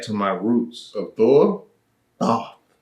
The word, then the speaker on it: Thoth: Thoth. Spell that? Thoth. So like thought. But Thoth. God of Go ahead.